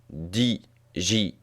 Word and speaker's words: Django: En effet, lorsque Django se présente en version originale, il épelle son nom, D-J-A-N-G-O, puis précise « The D is silent ». Le D est muet.